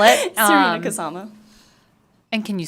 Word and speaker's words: Kasama: Can you please state your name for the record and spell it? Um, Kasama.